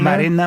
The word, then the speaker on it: Marina: It's pronounced Marina Moroz And Danielle Taylor from Ukraine.